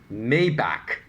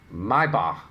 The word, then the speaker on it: Maybach: so strong overseas that a lot of Asians think that brand is pronounced Maybach because that's how it's pronounced in rap songs. So if I tell them, no, that brand is pronounced Maiba, they will say, no, you're wrong. What the heck is that? It's Maybach.